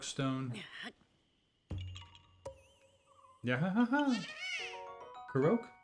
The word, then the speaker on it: Korok: Korok? No, Korok. Korok. Korok. It's just ingrained into me. I've been saying it wrong for, I don't know how many years, 5 years or so.